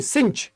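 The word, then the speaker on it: cinch: किंच का मतलब होता है लाडले, किंच नहीं सिंच, इसको बोलेंगे बेटा सिंच, प्रोनाउंसिएशन ध्यान रखना सिंच।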